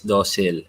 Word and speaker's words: docile: Ang pronunciation daw na tama is docile.